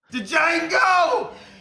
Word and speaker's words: Django: Django! You black son of a bitch! The D is silent here, baby.